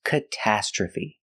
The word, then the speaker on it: catastrophe: last sound is feet stress is on the second and fourth syllable catastrophe catastrophe the train crashed it